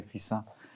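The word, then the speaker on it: Fixin: them this one especially so you pronounce fisa or fixer with double s yes double s like so we say of course we say fisa and this this one's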